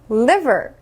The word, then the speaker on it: liver: 읽어 볼게요 르 르 liv 다시 한번 르 liver ver good 자 L 발음 상대적으로 쉽죠 어려운 발음 R 발음이 되겠습니다